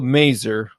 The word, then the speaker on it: Mazer: appreciate it so again his name is bill mazer rhymes with laser he is teaching men